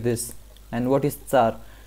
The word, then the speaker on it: tsar: And what is Tsar? Tsar is Tsar, Tsar, or Zar. And it is not Z at all, and why this confusion comes, I will explain it to you.